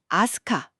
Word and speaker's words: 飛鳥: 역시 시작은 아스카 빗자입니다. 저도 예전에 아스카 지역을가 본 적이 있는데 이게 늘 궁금했어요. 한자로는 분명 비조, 나는 세 즉 비조인데 왜 이걸 아스카라고 읽는 걸까요?네 바로 그 지점이 모든 비스터리의 출발점입니다.